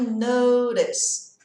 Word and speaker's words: notice: I notice. Eu percebo, eu noto, tá? Uma dica de pronúncia, esse T vai virar um som de D bem leve.